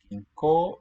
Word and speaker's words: 銀行: 銀行 Ginko, again, means bank. Ginko, u. O and u, when they're within the same meaningful part of a word, will just give a long o sound.